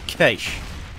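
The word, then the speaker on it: Cache: Yes, as we pronounce it here in Australia, Kaish. That's because we pronounce it correctly, Jim.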